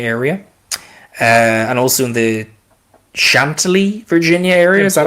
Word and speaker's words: Chantilly: the D.C., Virginia area, and also in the Chantilly, Virginia area. Is that how you pronounce it? Chantilly.